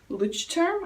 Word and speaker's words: Leuchtturm: I have been really into moleskins for a long time, but I recently changed to a Leuchtturm. I think that's how you pronounce it.